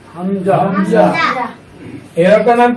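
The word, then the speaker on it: همزة: আচ্ছা, এখানে হামজা সম্পর্কে বলা হয়েছে যে এটা শক্ত হবে এবং এটা পড়ার সময় আমাদেরকে শ্বাস বন্ধ রাখতে হবে এবং 1 নম্বর মাকরাজ অনুযায়ী হামজা হরফটাকে উচ্চারণ করতে হবে।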